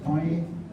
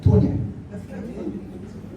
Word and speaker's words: Tony: Although my Hungarian family pronounces it a little bit different. It's more of like a Tonya.